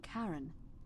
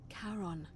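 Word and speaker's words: Charon: Only your pronunciation is a little off. The name you heard wasn't Karen. It was C H A R O N. Kon, as in Karon, the fairyman of the dead.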